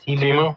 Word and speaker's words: Temu: My wife gets sent stuff sometimes too from like Temu or, is that how you say it? Temu, yeah.